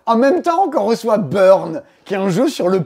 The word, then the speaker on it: Buurn: bien qu'est-ce que c'est burn un jeu qui se prononce à l'anglaise malgré le fait que